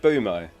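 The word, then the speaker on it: Mbeumo: let me scroll up the m is silent uo it's not uo and be wumo no it's not it's so it's just bumo and boomo I only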